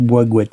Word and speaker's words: Bois Gouët: On prononce Bois-Gouette apparemment, d'après ce que j'ai compris.